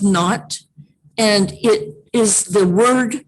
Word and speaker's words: naught: word that i just said is not it's pronounced not and it is the word that represents this